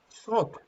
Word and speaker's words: salt: This is a lake, but it's a lake, salt lake. Okay, Salt. salt, salt. But the L is Salt. not pronounced. The L is not.